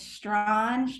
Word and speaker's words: Strawn: She's also the director of strategic accounts at Stran, or is it Strawn? It's Strawn, however you want to pronounce it, as long as you buy from us.